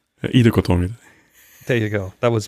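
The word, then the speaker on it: Ittoqqortoormiit: And that is, you want to pronounce it? Yeah, that is Itokortormit. Very well, very well. Nice. That was the slow version. How does the fast version sound? Itokortormit.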